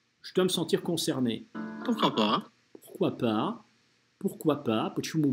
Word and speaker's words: pourquoi pas: Будьте внимательны, это надо правильно произносить. То есть здесь, с одной стороны, не pourquoi, с другой стороны, не «пуркуа». То есть это не как в «Трех мушкетерах» должно быть «пурквапа». «Пурквапа», «пурквапа». Там нет «в».